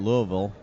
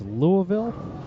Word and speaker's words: Louisville: that again Jeff it's Louisville Louisville Louisville Louisville Louisville all right you can actually say it without moving your mouth okay oval wow mcaden